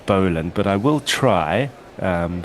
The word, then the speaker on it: Boland: we are automatically well we would pronounce it Bland. I really really really really struggled to say Scott Boland but I will try